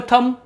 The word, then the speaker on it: thumb: THUMB, English में थम, हिंदी में थम यानी हमारा अंगूठा। अब हम C साइलेंट पे आते हैं फ्रेंड्स।